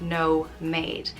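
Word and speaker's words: nóiméad: made is um minutes in irish pronounced no made so and you'd say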